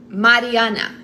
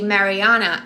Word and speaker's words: Mariana: Because in Brazil way you say Mariana. In American way you say Mariana, and I get used to say Mariana.